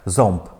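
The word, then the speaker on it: ząb: Наприкінці вони глухі. Так? Зомб. Там п чуємо.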